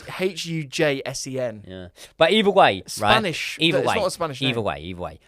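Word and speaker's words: Huijsen: Hussein. Hussein. Well, it's Hujsen.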